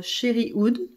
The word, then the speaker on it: Cherry Oud: one which should be released is uh sherry wood so cherry wood yeah i pronounced it the french way so cherry wood is